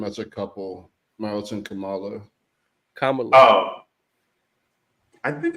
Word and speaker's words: Kamala: It's not Kamala or Kamala. Here's a correct pronunciation. Kamala. Yeah, that's it.